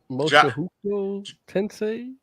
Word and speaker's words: Mushoku Tensei: So Jay, why don't you start us off and tell us what Mushoku Tensei?